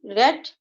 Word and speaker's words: read: উচ্চারণ রেড হচ্ছে কেন, এটা নিয়মই এরকম যে রিড রেড রেড, এভাবেই আমরা শিখেছি যখন স্ট্রং ভার্ব উইক ভার্ব শিখেছিলাম তখন, তাই না? উচ্চারণটা কি, রিড রেড রেড, a book has been read by him, হিমটা কোথা